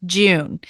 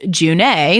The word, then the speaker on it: June: this Elven God is Not pronounced June even though it's spelled that way it's actually pronounced junee which thank you Katie